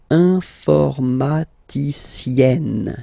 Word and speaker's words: informaticienne: And then, if you look carefully, then here, okay, you will have to double the N. And then add this final E, okay? And you get the sound informaticienne, sienne.